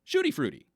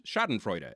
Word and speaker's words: schadenfreude: And they'll be like, no, it's schadenfreude. And then you're like, oh, no. See, I'm American, and I heard someone else pronounce it shooty fruity, so that's what I'm going to call it too, is shooty fruity.